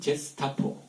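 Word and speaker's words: Gestapo: 이 G라는 것이 독일어에서는 G이면 게라고 발음이 되지만 프랑스어에서는 G이면 제로 발음이 돼요. 그게 게로 발음이 되는 경우는 U가 붙어야 돼요. G-U-E가 되어야 게슈타포가 되는데 게슈타포를 G-E로 쓰니까 제스타포예요. 제스타포.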